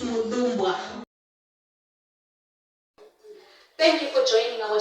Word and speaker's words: Mupamirwa: Mupamirwa is a student at Midlands State University. She's currently studying metallurgical engineering. Did I pronounce it correctly? It's Mupamirwa.